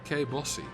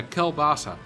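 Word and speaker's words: kielbasa: I know people who pronounce Kelbasa as Kebossi. I have no idea what... Oh, wait. Is that... Yeah, Kelbasa.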